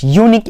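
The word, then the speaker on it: unique: ইট অফারস dash ইউনিক experience.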